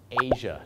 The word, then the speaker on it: Asia: ให้ คุณ จะ ทำ เสียง อะไร ครับ เชอ Asia นั่น เอง ครับ ผม Asia นะ ฮะ Asia